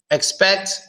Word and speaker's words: expect: they are closed not expect expect you barely hear the first e but the second you definitely hear it so now that looks